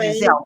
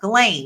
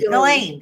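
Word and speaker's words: Ghislaine: I want to keep calling her Jazelle, but it's not Jazelle. Glain. Galain. Galain.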